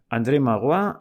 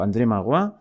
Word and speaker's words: André Maurois: Bueno, vamos al relato, a esta larga cita del relato, que os digo, André Magloire, supongo que se dice así, dicho tal como se pronuncia, André Maurois, por si hay algún